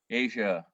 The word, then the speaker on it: Aja: Is it Aha or Aja? How do you think you say that? Aja? Is it Aja? Because that's how they say it. Steely Dan. Do they say it Aja? Asia. Asia.